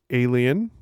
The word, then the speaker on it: Aelian: Alien. That's AELIAN. So not alien up there.